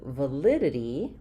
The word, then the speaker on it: validity: But when we get to validity, we have the stress on the li syllable. And so, we lose our clear vowel for the letter a. So, rather than validity, we have validity. So I would rewrite that with the uh for my schwah sound and then I